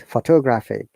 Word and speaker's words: photographic: And there are a few examples like mistakes, photograph, but photographic. It's a photography. Photographic. You see, the stresses are in different syllables.